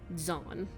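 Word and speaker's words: Zaan: It's a very hard name to pronounce for me personally, because it starts with a D, Z-A-A-N, Zahn. Is how I'll be going with it.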